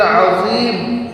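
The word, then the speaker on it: عظيم: नियम यह है कि रुकू में "सुभान रब्बियल अज़ीम" कहते समय, 'अज़ीम' में 'ज़ा' का उच्चारण बहुत सावधानी से करें। कुछ लोग इसका उच्चारण 'ज़ा' की जगह 'जीम' के साथ करते हैं। यानि "सुभाना रब्बियाल अजीम" की जगह "सुभाना रब्बियाल अजीम" कहते हैं।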